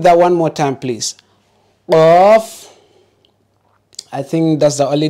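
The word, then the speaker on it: قاف: Again, qaf. So don't say cough. Don't use the K sound, not cough. Don't also use the Q sound, please. Try to pronounce it like how the Arabs pronounce it.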